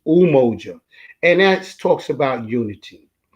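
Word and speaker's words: Umoja: first day would be a lot of people pronounce it your emoji because it's pr because it's spelled you m o j a but it's ooh mojo and that's talks about unity it talks about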